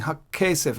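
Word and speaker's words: הַכֶּסֶף: Why is a strong Dagesh? Because I'm saying Hakkesef. I'm doubling the k sound.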